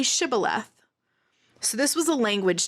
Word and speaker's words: Shibboleth: their accent or whatever they could not pronounce the SH sound so when they asked them to say Shibboleth if the person who